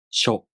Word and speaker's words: しょ: shu To pronounce しょ, the tongue moves from the [ɕ] consonant to the [o] vowel. sho If you have trouble